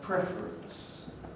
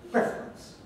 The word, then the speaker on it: preference: in a word like preference all right the slowest form is preferences into preference reference preference and this word is quite often pronounced just as two syllables practice you can see